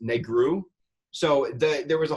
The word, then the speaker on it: negru: guy out yes and black in Romanian is pronounced negru so the there was